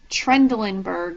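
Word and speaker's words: Trendelenburg: The last one is a little tricky. Trendelinberg is how you say it.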